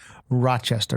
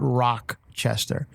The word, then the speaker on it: Rochester: Rochester which I pronounced I guess I've been pronouncing wrong I was saying Rochester and people saying it's Rochester Rochester not Rock Chester Rochester so I'll be